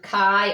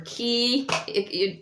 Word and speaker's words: chi: So it's ki, and it's actually pronounced CH, as in Christ.